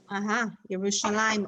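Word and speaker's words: ירושלים: how do we say it in hebrew jerusalem yerushalayim also derives from the short oops how did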